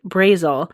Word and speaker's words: Brazel: And a rancher named William Mac Brazel, I think that's how you pronounce it. I'm going to spell it for you. It's B R A Z E L.